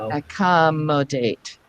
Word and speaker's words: accommodate: Eventually, we can say, you know what, the ac and the com are actually prefixes. We rarely ever stress the prefixes. So let's stress the first syllable after that. So that would be the mo. Accommodate.